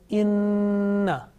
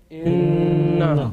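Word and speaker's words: إِنَّ: Now example of noon gunna is inna. Say inna.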